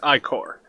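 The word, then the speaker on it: Ichor: fill it with magical I core that's pronounced i corps choose your I Corps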